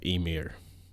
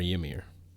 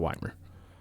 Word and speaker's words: Ymir: And that's with the story of Ymir. Or Ymir. However you want to pronounce it. Not Weimer.